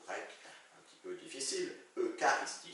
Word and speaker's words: Eucharistie: Eucharistie, ça s'écrit Eucharistie, mais on le prononce Eucharistie.